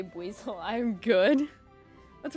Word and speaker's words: Buizel: As long as I get to hear you say Buizel, I'm good. What's wrong with me saying Buizel?